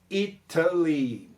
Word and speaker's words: Italy: brasileira um preferir vá italy italy não está errado está correta ter culto falar itália mas americanos acabam mudando esse te do itally para um troço meio r meio de ele ele irei